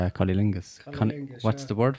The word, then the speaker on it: cunnilingus: And cunnilingus, how do you pronounce it?